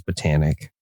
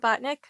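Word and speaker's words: Botanik: to pronounce this one there's one of two ways it's botanic it's botanic it's not botnik no it's botanic and that I Comm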